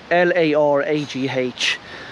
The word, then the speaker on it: Laragh: line hems l-y-n-h-a-m-s of lara l-a-r-a-g-h but you pronounce it lara so this is a